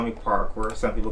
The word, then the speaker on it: Pakor: you can see for those who don't know parkour he's on the inside p a k or